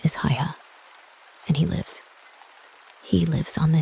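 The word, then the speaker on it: Haigha: His name is Hiya." He pronounced it so as to rhyme with mayor.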